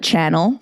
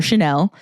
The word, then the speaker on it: Chanel: Some people would call it Channel for Chanel.